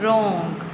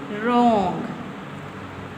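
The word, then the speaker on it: wrong: डब्ल्यू के बाद जब भी आर होगा तो हम डब्ल्यू को साइलेंट कंसीडर करेंगे। डब्ल्यू साइलेंट हो जाएगा। इसको हम बोलेंगे नहीं। अब इसकी रीडिंग करते हैं। रॉन्ग रॉन्ग repeat after me KG class रॉन्ग।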